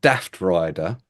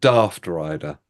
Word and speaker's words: Daftrider: If you were from the north of England, you'd be called Daftrider, and if you're from the south of England, you'd be called Daftrider. How are you pronouncing it?